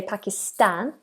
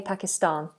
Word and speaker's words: Pakistan: this for you yeah it's an a long one so Americans say Pakistan a and we Brits say Pakistan Pakistan but we have a